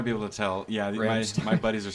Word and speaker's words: Rammstein: Yeah, Rammstein.